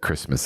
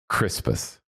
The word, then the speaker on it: Crispus: I just to clarify, because the last time you said it, you said Christmas again. It's Crispus.